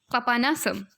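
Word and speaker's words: Papanasam: पापनसम, पापानासम, ठीक है, ऐसी इसकी प्रोनाउंसिएशन होगी, पापानासम।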